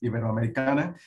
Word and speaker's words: Iberoamericana: It's at a place called Universidad Iberoamericana. So I'm starting to pronounce it like American, so it's Iberoamericana.